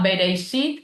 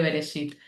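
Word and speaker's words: בראשית: Lo digo, se diceit, pero no tengo esa pronunciación tan ídice que le agrego una i a todo y digo bereishit en vez de beresit.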